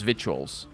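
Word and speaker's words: victuals: up vitt what the with the accent it's vitual that you don't pronounce the C I don't I don't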